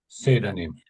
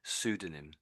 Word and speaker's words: pseudonym: Sudonym. Yeah, that's it. So the P is basically silent. It's originally a Greek word and they that's a bit confusing. Pseudonym.